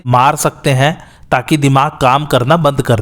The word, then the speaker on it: Haiti: तो या तो पूरा सर ही काट देते हैं या फिर किसी भी वेपन से दिमाग पर ज़ोर से मार सकते हैं ताकि दिमाग काम करना बंद कर दे।